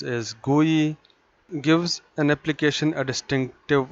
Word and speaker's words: GUI: For example, you provide an input to application, it provides you the output on the screen, pronounced as GUI, gives an application a distinctive look and feel.